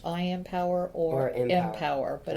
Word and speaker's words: Impower: always be I am all right so it's I am power that's exactly what it says even though it's called m is as in m power right it's pronounced I am and it's pronounced I am power or power but it's i m p o